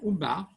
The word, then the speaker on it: Ummah: Et que la communauté musulmane, ou bien Ummah, comme c'est prononcé en arabe, est représentée pour le régime islamique comme une nation islamique du monde entier.